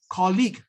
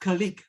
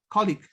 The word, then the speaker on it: colleague: This is colleague, not colleague. It was mispronounced as colleague. Should have been colleague.